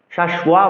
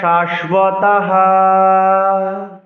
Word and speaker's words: শাশ্বতাঃ: জাতি ধর্মাঃ কুল ধর্মাশ্চ শাশ্বতাঃ। কুল ধর্মাশ্চ শাশ্বতাঃ। এক্ষেত্রে শাশ্বতা, শাশ্বয়া বলা যাবে না, কেননা বফলাকে বফলার মতো উচ্চারণ করতে হবে, ওর মতো উচ্চারণ করতে হবে, ব। এই জন্যই বফলার উচ্চারণ ভালো রাখতে হবে।